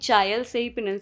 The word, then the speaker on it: चैल: गए हैं, और हाँ, इसका उच्चारण चैल है। मैंने पहले चाय कहा था, जो गलत है। जब मैं रास्ते में पहुंचा, तो हर जगह चैल लिखा हुआ था। हमारे ड्राइवर, भाई ने भी मुझे बताया कि चैल सही उच्चारण है।